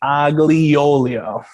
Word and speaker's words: aglio e olio: star we're going to make fetuccini agliolio so that's the pronunciation but we're Midwestern Italian